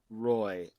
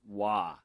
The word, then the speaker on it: Roy: got that right but his last name is not roy it's pronounced wah wah so patrick wah if